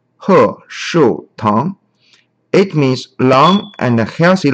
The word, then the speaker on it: Heshoutang: So the logo pronounces as He Shu Tang.